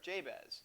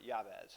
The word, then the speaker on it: Jabez: But Todd, he's the one who had encouraged me to pray the prayer of Jabez, or Yabez, however you want to pronounce that.